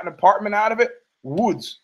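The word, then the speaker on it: Łódź: apartment out of it Woods which is how you pronounce o l o DZ because it's got the L with the thing through it in Polish Woods Poland you got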